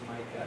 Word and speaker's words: Maaike: So, first of all, Micah's name is pronounced Maaike.